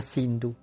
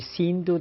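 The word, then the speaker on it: Sindhu: río el Indo que en sánscrito se denomina sindu los mahometanos pronuncian la S como h en vez de decir sindu decían hindu Así que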